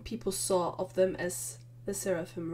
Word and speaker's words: LE SSERAFIM: floor again seraphim oh they literally told me how to pronounce the name one second the seraphim got it thank you very